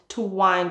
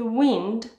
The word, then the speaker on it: wind: The verb is to wind your watch. The noun is a wind. There is a light wind today. To wind, a wind.